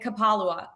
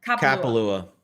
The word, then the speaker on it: Kapalua: And he has an excellent course history at Kapalua. Did I say that right? Kapalua. Thank you. Wrong emphasis on the wrong syllable. On the wrong vowel.